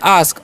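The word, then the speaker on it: ask: हैं क्या पढ़ते हैं आस्क अस्क नहीं पढ़ना है ठीक है तो एक अचरण यहां पर आ होता है इसलिए हम क्या पढ़ेंगे आस्क ठीक है आस्क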